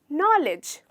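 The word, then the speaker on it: knowledge: इसका actual pronunciation है नॉलेज, जहाँ पे डी नहीं रहता और सिर्फ आपको LEGE को लेके बोलना रहता है, नॉलेज, नॉलेज।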